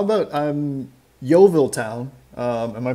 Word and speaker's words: Yeovil Town: so uh how yeah so how about um yeovil town uh am i pronouncing that right yeah that's correct yeah yeah